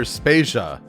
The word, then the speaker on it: Spasia: is jodevator and I'm spasia we're brought to you by Anonymous dinosaur and rhymes with Asia it's time to appreciate